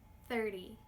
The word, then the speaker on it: thirty: For this one, remember to focus on the sneaky D sound. Here we go. Listen and repeat after me: thirty fourty fifty sixty seventy eighty ninety Good?